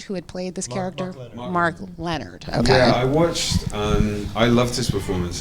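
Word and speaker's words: Mark Lenard: research and and it's I'm gonna pronounce his name wrong but I think it's Michael Denard who had played this character mark Leonard okay I love this performance and I watched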